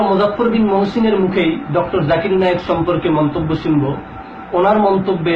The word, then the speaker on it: জাকির নায়েক: করতে হবে জাকির নায়েক এখানে জাকির নায়েকের নামটাকে বিকৃতভাবে উচ্চারণ করতে গিয়ে জুকার নায়েক বললেন অথচ নাম বিকৃত করা